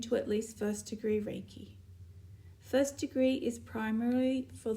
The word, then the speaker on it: Reiki: to offer what is raiki Reiki is a universal life force energy Reiki pronounced Reiki comes from the Japanese Ki characters Ray meaning Universal and key meaning life force energy it is energy and